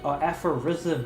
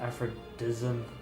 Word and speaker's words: Aphorism: Aphorism, not Aphrodism. God damn, where'd the D come from?